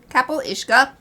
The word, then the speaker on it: Cabyll-Uisge: this is the c how do we pronounce this it's like Kapp iska Kapp iska it's the Irish Water